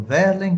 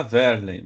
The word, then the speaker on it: Werlen: Olha, o nome seria Verlen, mas ninguém, ou um ou outro, chama de Verlen. Então, já é abrasileirado, todo mundo chama de Werlen, inclusive meus familiares, né?